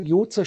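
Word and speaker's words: יוצר: JZR, JZR, Jozer spricht man das aus, heißt Former.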